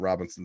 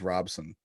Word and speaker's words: Robson: No, it's not Robinson. It's Robson. Robson is how you say your last name.